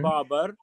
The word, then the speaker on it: Babur: India as his country, and we call him Babar.